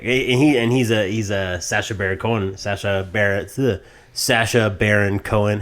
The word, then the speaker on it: Sacha Baron Cohen: Sacha Baron Cohen. How do you say his fucking name? You got it. Yeah. Sacha Baron Cohen.